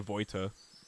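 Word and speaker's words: Vojta: Henry Better can't call me pronounce it Voita.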